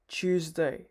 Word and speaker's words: Tuesday: সো again the same thing here, choose plus day, Tuesday, Tuesday. পরেরটা হচ্ছে বুধবার, যেটি ইংলিশে বলে ওয়েন্সডে। যদিও স্পেলিং অনুযায়ী ওয়েডনেসডে ঠিক উচ্চারণ হবে, কিন্তু নেটিভ স্পিকারদের মতো বলতে গেলে ডিটি আসলে সাইলেন্ট থাকবে।